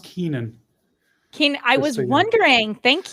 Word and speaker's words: Koenen: you are oh well my last name is pronounced keenan kane i was wondering